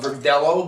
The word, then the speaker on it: Verdelho: and this is a Verdelho, which, Verdelho is a grape they do a lot in Spain. They do some in Australia. There they call it Verdelho because they pronounce the L.